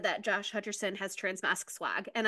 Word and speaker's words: Hutcherson: time no I didn't it is Hutcherson sorry I thought I thought you said hutch in sin and I was like